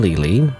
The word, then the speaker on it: Leyley: It's a Saturday and and I'm going to continue playing The Coffin of Andy and Lely, which I always pronounce Lily even though it's supposed to be Lele.